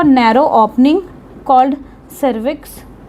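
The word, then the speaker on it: cervix: आई एक्स वी आई हां सर्विक्स बोलते हैं इसको। ये सर्विकस तो नहीं है। ये प्रोनाउंसिएशन करेक्ट है। ये सर्विक्स है।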